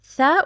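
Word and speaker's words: ث: Tha, which we pronounce it th, tha. Tha for basic, 1, 2, 3 dots, the same body with different dots.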